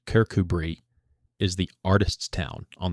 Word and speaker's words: Kirkcudbright: Kirkcudbright pronounced Kirkubree is the artists' town on the Solway coast.